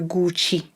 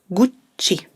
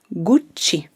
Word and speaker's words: Gucci: usually hear is that you tend to pronounce only one c so i tend to hear gucci but remember it's a double sound so stress it out a little bit gucci say it with me